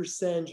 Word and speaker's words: Senge: Some people call him Peter Senge. Peter Senge, I believe, is the appropriate pronunciation of his name.